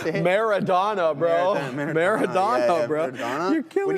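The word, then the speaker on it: Maradona: Madonna. Yeah. Yeah. Madonna. Madonna. How do you say Maradonna, bro?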